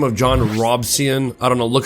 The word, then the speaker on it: Robison: A man by the name of John Robison, I don't know, look how it's spelled right here. I I want to pronounce it Robinson, but it's not it's Robison.